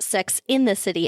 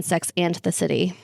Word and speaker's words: Sex and the City: So apparently a lot of people think that Sex in the City is pronounced Sex in the City and not and. But it is and always has been Sex and the City.